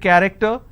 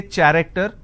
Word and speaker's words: character: So you see the word character. I have the letter CH and it's pronounced as K. I don't say character, I say it character.